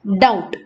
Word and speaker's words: doubt: In both these words, B is silent. We don't say debt or doubt. We have to say debt and doubt.